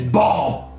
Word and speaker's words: bomb: you call it bomb no no the B is silent the final B is silent it's bomb uh okay so we